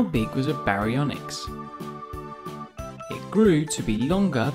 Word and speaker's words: Baryonyx: time for baryonyx how do you say that again ba re on x how big was a baryonyx it grew to be